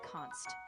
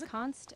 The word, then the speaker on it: const: Yeah, it's just pronounced like const, short for constant. So when you apply it, you just say it as const, and it means the value stays fixed.